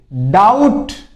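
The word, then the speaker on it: doubt: होता है फिर देखिए डाउट डाउट इसमें बी साइलेंट रहता है ध्यान रख लेना बहुत से बोलने में दिक्कत करते है डाउट डाउट डाउट बोल देते नहीं डाउट बी इसमें साइलेंट रहता इसका मतलब मतलब क्या होता है?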